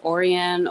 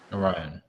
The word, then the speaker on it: Orion: your connection with um I don't know if it's pronounced orian or Orion Orion yes well to be two